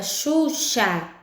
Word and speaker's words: Xuxa: Na palavra Xuxa, se escreve com X, mas esse X tem um som de CH.